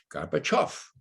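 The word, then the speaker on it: Gorbachev: off off okay now let's say them together garba chuff you got it that's it now i could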